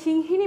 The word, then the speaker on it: সিংহী: দীর্ঘিকার আবার আমি যখন সিংহিনী বলছি তখন হয়ের উপর রসিকার দন্তানোর উপরে দীর্ঘিকার দিচ্ছি তার মানে আমার এখানে উচ্চারণে আমি যখন সিংহী বলবো তখন সিংহী হিয়ের উপর জোর থাকবে আবার যখন সিংহিনী বলছি